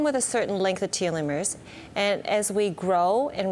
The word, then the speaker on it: telomeres: I still trip on that word telomeres.